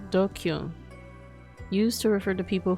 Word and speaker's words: DQN: DQN, Japanese net slang, pronounced dokyun. Used to refer to people who are stupid, antisocial, or delinquents. Dokyun?